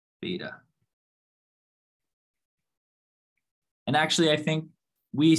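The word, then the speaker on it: β: So this symbol here is pronounced beta.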